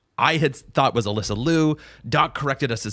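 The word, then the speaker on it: Liu: our channel that says, "Alyssa has requested that the media say her name Lou even though she herself pronounces it Leu."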